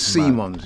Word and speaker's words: Simons: there isn't it xqs I'm sure that pronunciation is seamons you know not s I'm pretty sure at the Euros it was Javy Simons that's probably the what